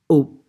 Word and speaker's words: aux: Okay, so AU, which is pronounced au plus a masculine place, au café, au restaurant, au parc. And then AUX, also pronounced au with a plural place, aux halles, aux toilettes, for example.